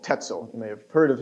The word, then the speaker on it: Tetzel: Spelled almost like pretzel. Oops. Tetzel. Almost like pretzel. Rhymes with it.